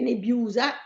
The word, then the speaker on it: nebiusa: Dove mette l'accento su Nebiusa? Allora, Sulla U? sulla U? Sì, Sì. tonicamente sì, perché Nebiusa, sì. Ma abbiamo bisogno dell'accento? Mm, sto pensando, Sì, sì, non abbiamo fretta. No, No, è una parola piana?